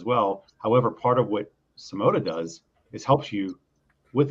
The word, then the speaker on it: Symoda: and what Wayne's doing over there with uh simota did I pronounce that you pronounce it this time Sam